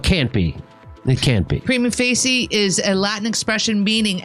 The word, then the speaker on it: prima facie: This is normally pronounced prima facie. Prima facie? Prima facie. I watch Boston Legal. Not Fauci. It's prima facie.